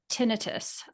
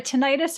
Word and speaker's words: tinnitus: We actually had a number of people ask about tinnitus. I heard a tinnitus or tinnitus. Tinnitus is the way I pronounce it. Both are acceptable.